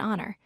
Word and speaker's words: honor: Some words have a silent H, meaning we do not pronounce the H sound.